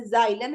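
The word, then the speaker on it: xylem: नी नोक नो नश एक्स की आवाज जो है वो जी की तरह निकलती है जैसे अगर स्टार्टिंग में आए तो जैसे जाइलम है जाइलोफोन है जेनोफोबिया एकसेप्शन इसमें क्या है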